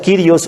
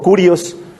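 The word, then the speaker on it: Κύριος: le llama lo que en griego se pronuncia Kyrios o Kurios, Señor.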